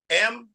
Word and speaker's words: Mahir: And she said, yeah, spell it. M-A-H-I-R.